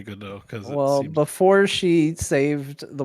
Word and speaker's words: Godot: I don't know why I think people don't know why we're saying Godot in chat. It's because in French the T is silent.